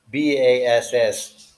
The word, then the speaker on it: bass: cranberry last fast surpass bass the fish bass bass that's a fish b-a-s-s the musical instrument is a bass pronounced with long a why because it is